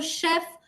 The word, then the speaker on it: chef: So chef, chauffeur, chaperone, lot of words which begin with ch but are pronounced as sh.